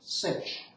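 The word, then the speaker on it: sinh: slightly okay hyperbolic sign H for hyperbolic usually pronounced cinch is equal to so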